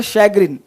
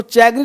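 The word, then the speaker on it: chagrin: Next word है शैग्रिन। इसको चैग्रिन मत पढ़ना, शैग्रिन।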